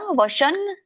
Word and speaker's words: ವಶಂ: ಆತ್ಮನ್ಯೇವ ವಶನ್ ನಯೇತ್ ಇಲ್ಲಿ ಬರುತ್ತೆ ನೋಡಿ. ಆತ್ಮನ್ಯೇವ ವಶನ್ ನಯೇತ್, ಯಾಕಂದ್ರೆ ಮುಂದೆ ಏನಿದೆ, ನ ಇದೆ. ನನೇ ಒಂದು ಅನುಸ್ವಾರ, ಹಾಗಾಗಿ ಹಿಂದಿನ ಒಂದು 0 ಕೂಡ ಅದೇ ಉಚ್ಚಾರಣೆ ಬರುತ್ತೆ.